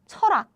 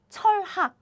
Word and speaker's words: 철학: So standard pronunciation would be 전화, 철학. However, in daily life, we pronounce it like 전화, 철학, 철학. Okay.